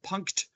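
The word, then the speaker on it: Punkt: on which is called the punk phone I love pronouncing the T on the end of that it's a very gratifying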